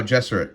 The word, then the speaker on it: Gesserit: Oh, Gesserit. Okay, that's how you pronounce it.